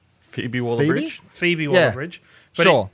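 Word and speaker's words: Phoebe Waller-Bridge: by how you pronouncing that fob phobe wallbridge just like Phoebe wall bridge Phoebe wall bridge but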